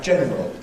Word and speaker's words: general: Personally, I've got to make a word like general 2 syllables.